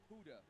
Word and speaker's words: 7ODA: In text, it's pronounced as Huda.